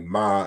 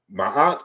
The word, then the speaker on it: Ma'at: also corresponds to the we erroneously say like ma and mat when we're pronouncing that root. But ma'at is 4 consonants.